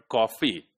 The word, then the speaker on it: coffee: There is the chance like the word coffee, right? Coffee, right? So the first syllable is stressed, cough, and fee. The second one is unstressed.